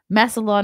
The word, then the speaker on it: Massillon: I finally learned how to pronounce that. Massillon, Ohio.